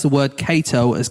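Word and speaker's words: Cato: I read that he killed a fellow actor who mispronounced the word Kato as keto on stage.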